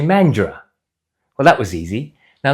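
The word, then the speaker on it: Mandurah: Most people who are not from WA, even Eastern status, would say mandura. It's actually mandra.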